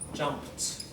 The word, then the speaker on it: jumped: Jump. Jumped. We don't say jumped. The only time you do it is when your basic verb ends with a D or ends with a T.